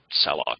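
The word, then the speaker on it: salloc: well F a lock some people pronounce that salad but I think it's best to think of it as slur malik allocate a lock ask for a time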